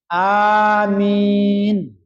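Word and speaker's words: آمين: Ghairil maghdubi alaihim waladdallin amin. Aminnya A-nya panjang. Amin. A-nya panjang, min-nya panjang.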